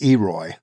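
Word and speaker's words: EROI: leave no fuel unburned e r oi pronounced eroy means energy returned on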